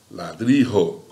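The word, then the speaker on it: ladrillo: Olha lá, a sílaba forte, a sílaba tônica, é a última, ó. Sabor. As graves, ladrilho, ladrijo.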